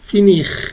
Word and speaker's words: finir: Se pronuncia bien la R al final, ¿listo? Porque no es ER, sino IR. Ir, finir, agir, choisir.